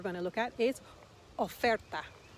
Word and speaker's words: oferta: to look at is oferta or remember the letter o in spanish is o it's the o sound of is an offer a